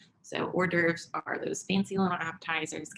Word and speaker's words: hors d'oeuvres: making up trays of four dervs which is spelled h o r s d apostrophe o e u v r e s so hors d'oeuvres are those fancy little